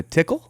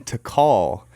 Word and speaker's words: Tikal: the same time we are in Guatemala specifically Tikal like Chad Chaz was mispronouncing it and he said he's all welcome to tickle we are in to call and to call as a National Park in